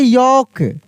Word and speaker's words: yolk: अगर लिखा रहता है यहाँ पे YOLK, इसको हम लोग पढ़ते हैं यॉक, यानी यहाँ पर भी एल क्या होता है? साइलेंट होता है, यानी एल साइलेंट लेटर है।